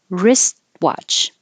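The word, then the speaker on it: wristwatch: t sword sword and wrist watch wrist watch you don't say the T you just hold it in the T position wrist watch or just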